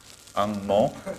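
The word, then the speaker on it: 红毛: Ang mo.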